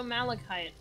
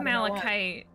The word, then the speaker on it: malachite: killing me Smalls so malachite as a like a mineral also in in Monster Hunter and I have until recently mispronounced it as Mite for some reason I love malachite it grows in these